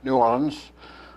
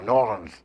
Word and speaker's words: New Orleans: she was down in New Orleans I'm saying it right now New Orleans not New Orleans as they say tonight anyway so I'm